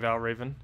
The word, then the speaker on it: Valraven: When have I ever pronounced it differently than Valraven? I've always said it as Valraven.